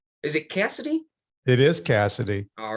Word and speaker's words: Cassity: It is Cassity.